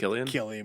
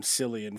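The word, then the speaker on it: Cillian: distinct look about him old old Killian Murphy yeah say it like I didn't call him selan for the last 30 years of my life I guess more than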